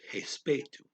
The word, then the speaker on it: respeito: Okay, traveling is a invitation, convite, ao, to the respeito, respect, respeito. R is pronounced H, and ao, to the entendimento, understanding.